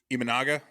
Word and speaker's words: Imanaga: His name, did I say his name wrong? Imanaga.